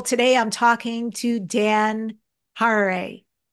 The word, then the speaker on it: Harary: Today I'm talking to Dan Harary. It rhymes with Ferrari.